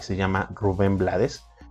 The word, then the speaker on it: Blades: y se llama rubén blades de hecho se pronuncia blade realmente es rubén blades